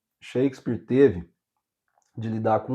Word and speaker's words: Shakespeare: Mas a gente falou muito do Shakespeare aqui, o foco da história não é Não é o o Shakespeare, é Shakespeare.